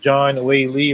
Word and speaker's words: Zhang Weili: According to Chris, he said this is well deserved, and it's pronounced John Wei Li versus Yan Xiaonan.